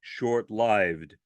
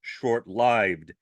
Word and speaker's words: short-lived: And again, yes, it is short-lived, not short-lived. Short-lived was a mispronunciation that became so common that some linguists have accepted it as an alternative pronunciation, but it's still a mispronunciation, or at least it was originally.